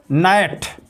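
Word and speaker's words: gnat: जहां पर जी plus N हो वहां पर जी साइलेंट होता है। जैसे नाइट, नाइट मीन्स होता है मच्छर।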